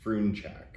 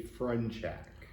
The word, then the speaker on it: Frunchak: down to it it's the proper pronunciation is froon check okay but um for whatever reason people seem to struggle with that so we just say friend check okay and we just